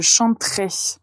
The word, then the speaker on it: chanterai: vous allez remarquer que il y aura des lettres e qu'on ne va pas prononcer donc on va dire je chanterai vous chaner parce que c'est ça se perd cette lettre E comme elle n'est pas accentué donc je chanterai tu chanteras